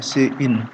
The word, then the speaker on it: cin: Ini sering dibacanya cin ya.